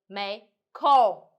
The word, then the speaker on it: 没空儿: and Young so in this situation we know pronounce and then directly roll up your tongue for example May Kong